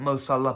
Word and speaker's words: Salah: to co pal and The X Factor that MOS Allah provides is just for Liverpool you know what